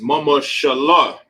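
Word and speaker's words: ממשלה: And the way to pronounce government in Hebrew is mama shallah.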